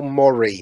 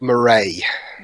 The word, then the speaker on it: Murray: that angry rulings over is Bill Murray not Maury he pronounced it differently yeah at least everything